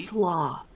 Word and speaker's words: slough: Sloth. I don't actually know the way... I never know how that's supposed to be pronounced. Like, That's is it it. slough? S-L-O-U-G-H? It's sloth.